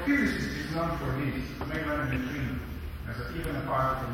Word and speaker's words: Majorana: It's pronounced Majorana. The letter J doesn't even exist in Italian. In Sicilian it does, but it's read like as an I, Majorana.